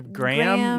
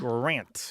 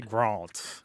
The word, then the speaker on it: Grant: Yeah, The Graham? No, it's not. yeah. It's Grant. Yeah. Grant. Or as the British say, Grant.